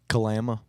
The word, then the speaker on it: Kalama: Kalama.